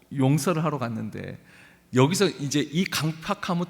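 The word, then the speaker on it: 강퍅: 근데 용서가 또 어려운 것은 상대방에게도 문제가 있을 때 용서가 어렵습니다.이 이 타인이 상대방이 강팍 발음을 자아야 돼요. 강팍이 아니에요. 나중에 여러분 한자 팍자가이 완악할 팍 야 야예요. 팍이 아니고 어 국어 맞춤법도 아세요?이 이 강팍함이 있어요.이 완악함이 있어요.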